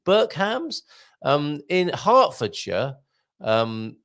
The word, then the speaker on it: Hertfordshire: Burk hams um in hartfordshire um spell Hertfordshire and nicely phonetically written there for us hartfordshire um to one of